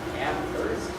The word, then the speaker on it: Amherst: Then she went to University of Massachusetts Amherst, no H, pronounced H, because H is the word, where she did her